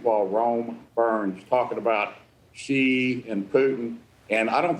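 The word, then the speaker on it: Xi: rome burns talking about she and putin and i don't think that she even though his name pronounced she i don't think he's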